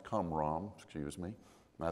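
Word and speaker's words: Qumran: into these caves and it's not kuram it's cam excuse me I saying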